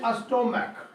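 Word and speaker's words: stomach: और ये लिखा मैंने अस्टोमैक। क्या कहा लिखा मैंने? यहाँ CH का उच्चारण कोची हो गया?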